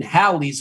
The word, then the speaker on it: Halley's: It's always been Halley's with a short A and a double L now.